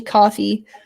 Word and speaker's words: Ko-fi: Go check out his it looks like it's spelled Ko-Fi, but it's actually coffee.